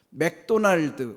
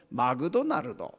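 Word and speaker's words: McDonald's: 사람들이 영어를 참 못해요 맥도날드 우리는 다 따라 해요 근데 그 사람들 보고 맥도날드 따라해보험 못해요 뭐라고 하는 줄 아세요 마그도 나르도 이러거든요 일본 사람들이 영어 발음을 못합니다 맥도날드가 안 돼서 막은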